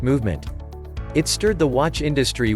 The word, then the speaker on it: MVMT: In case you didn't know, the name of the brand is pronounced Movement.